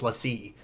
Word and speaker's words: LaCie: Like, it's not Lacy, it's LaCie.